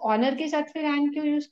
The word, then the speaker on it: honor: why not an the honor both of them are starting with h because in honor H is silent in his yes and